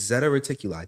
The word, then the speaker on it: Zeta Reticuli: It's Zeta Reticuli.